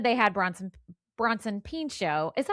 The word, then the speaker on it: Pinchot: Anyway, so once they said they had Bronson Pinchot, is that how you say it? Pinchot?